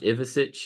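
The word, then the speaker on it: Ivišić: name is pronounced Ivisic.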